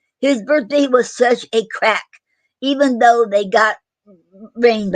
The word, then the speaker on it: craic: Example in a sentence: his birthday was such a crack, even though they got rained on. And it's spelled CRAIC.